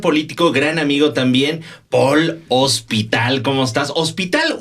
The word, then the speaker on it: Ospital: debe de preguntar Entonces en este caso es Paul se escribe Paul y es hospital como el hospital general como el hospital general como el hospital del seguro social sí no pero qué